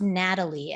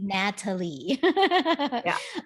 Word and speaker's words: Nathaly: another minute natalie and her name's pronounced natalie everybody even though it's not spelled that way it is actually natalie um so uh jessica